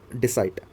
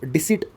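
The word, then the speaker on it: deceit: ये word डिसाइट, इसका जो डिसिट एक्चुअल में प्रोनाउंसिएशन होता है, नाउन के रूप में ये प्रयोग किया जाता है सेंटेंस में।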